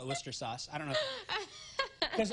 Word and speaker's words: Worcestershire: A little Worcestershire. Worcester. I call it Worcester sauce.